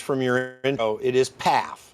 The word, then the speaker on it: Pfaff: But it would be Pfaff is how you would pronounce it in German. But Pfaff is how we've Americanized it.